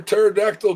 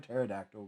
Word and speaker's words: pterodactyl: K says, "Why can't you hear a pterodactyl going to the bathroom?" Why can you not hear a pterodactyl going to The P is silent.